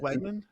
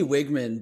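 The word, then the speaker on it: Weigman: Was it Wegman? I kind of it's supposed to be Wigman, but I like saying Wegman.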